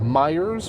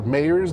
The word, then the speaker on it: Meijer: US at least, were at Myers, or Mayers, depending on how you pronounce it.